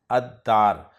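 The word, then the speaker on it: الدار: दाल से इस्म शुरू हो रहा है दार, और दार पर जब अलिफ लाम दाखिल किया जाएगा तो लाम नहीं पढ़ा जाएगा अद्दार।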